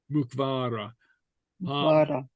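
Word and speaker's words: muc-mhara: be fun spor would be playful spor mukar mukar mvar an the the whale okay is in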